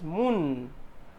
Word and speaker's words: moon: So here if we see there are some words, and if we see here moon, it is pronounced as moon, long oo sound, moon.